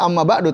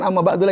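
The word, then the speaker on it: أما بعد: ba'du harokat huruf dal kalau tidak pakai dhomir maka dibacanya Amma ba'du tapi kalau ada dhomir maka Jadi bukan ama batu lagi Amma ba'dah itu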